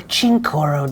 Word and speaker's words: Cincoro: Michael Jordan and 4 other NBA owners launched the super premium tequila brand Cincoro, or Chincoro depending how the Spanish pronunciation is pronounced.